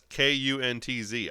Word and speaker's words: Kuntz: They had Tom Brockins, Rupert Jones, Johnny Grubb, Rusty Kuntz, and that's Kuntz. I'll let you pronounce that how you want to, but it's Rusty Kuntz.